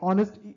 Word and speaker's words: honest: as a warm cup of tea after an honest day's work now even in this case for the word honest the way honest it might start with a consonant right uh